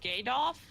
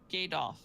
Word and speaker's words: Gadoff: pronounced Gadoff, like Adolf, but Gadoff. Adolf, but gay.